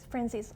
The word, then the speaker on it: Franzese: Franzese.